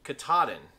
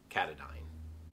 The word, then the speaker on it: Katadyn: heard this brand called katahdin just like the mountain in maine but it is actually a swiss company and it is pronounced katadyn this company started out